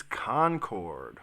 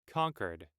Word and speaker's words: Concord: title of the episode is Concord or Concord Concord Concord let's see how they say it conquered conquered Jesus conquered I love it but I'm not would it so concurrence concurrence concur concur ConEd all right I'm going just go with conquered so let's see what